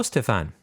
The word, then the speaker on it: Stefan: that for you hello Stefan and by the way he put the accent on the first key in my name which is very nice